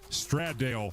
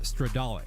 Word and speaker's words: Stradale: the Ferrari SF90 Straddale. I think it's pronounced Stradale.